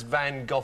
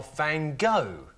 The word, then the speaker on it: Van Gogh: You see, like, the Americans pronounce Van Gogh Van Gogh. Mm. I mean, what's the matter with them? Can't they see the U-G-H at the end?